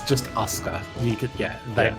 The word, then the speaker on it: Asuka: No, it's just Asuka. You could, it's pronounced like that.